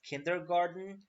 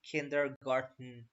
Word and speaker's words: kindergarten: I just put it because people usually pronounce it as kindergarten so it's definitely kindergarten with tea now we would remind